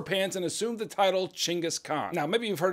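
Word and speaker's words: Chinggis: and assumed the title chingus Khan now maybe you've heard of him under a different name namely Genghis Khan but we say chingus now for two reasons first it's funner to say chingus chingas I'm just having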